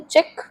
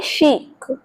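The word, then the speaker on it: chic: हम बोलेंगे शी is looking चिक। वैसे हम इसको चिक पढ़ेंगे बट चिक तो हैंन का बच्चा होता है। उसके बेबी को बोलते हैं चिक। सो आपको बोलना है शीक। शीक है ना प्रोनंसिएशन सबसे ज्यादा अलग।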